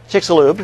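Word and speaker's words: Chicxulub: How do you pronounce that? Chickixel Cub. Chickixaloo.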